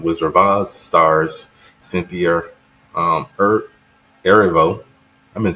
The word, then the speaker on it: Erivo: Stars Cynthia Erivo. I've been saying her name wrong for the longest. I've been saying Ervio. But it's Erivo.